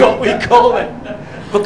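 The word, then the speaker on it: Penicuik: got back the next morning her friend Mrs Penny cook that's where I live and it is spelled the Jamaica penic cookies p n n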